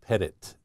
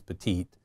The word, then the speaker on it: Pettit: thank you Dr Sergeant my last name is pronounced Pettit uh it is a French descent but that's why most people tend to refer to it as petite I'm a associate professor